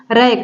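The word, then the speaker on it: wreck: अराई का मतलब तिरछा रक रक का मतलब होता है विध्वंस देखिए रैक डब्लू के प डब्लू के बाद आर आया है इसलिए यहां पर डब्लू साइलेंट है बिंदु हंश होता है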